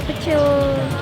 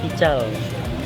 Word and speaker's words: pical: Terus ada itu juga, ada pecel. Oh, bukan pecel loh bacanya. Apa sih? Ingat, bukan pecel. Ini tuh khas Sumatera. Jadi bacanya pical.